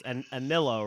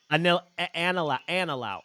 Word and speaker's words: Anilao: Anillo, right? Anillo, is that how you pronounce it? Anillo. Anilao.